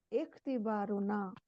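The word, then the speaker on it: اختبارنا: एहदाहुन्ना इख्तिबारुना, हमारे एग्जाम्स। अब इसमें हमजतुल वसल स्टार्टिंग में आया है इसलिए ई करके उसको प्रोनाउंस करेंगे, तो इख्तिबारुना, हमारे एग्जाम्स।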